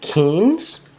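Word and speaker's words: Kynes: planet ologist kinds which I learned is actually pronounced Keynes he has been he's been studying Arrakis for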